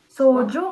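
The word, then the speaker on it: 소주: sa right sojuju soju correct soju so the s with o And the Juju soju which is al which is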